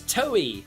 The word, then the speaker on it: Toei: This is known as Toei. Is it Toei? Toei Sonic. Is that how you pronounce it? Toei? I always pronounce it toy, but I'm pretty sure it is Toei.